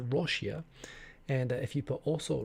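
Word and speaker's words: ロシア: You'd say "ya" on the end, which of course sounds like in Japanese, Russia is pronounced Roshia, and if you put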